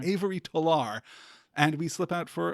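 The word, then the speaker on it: Tolar: the introduction to Avery toar he really like stresses that that terminal syllable on his last name Avery tar and we slip out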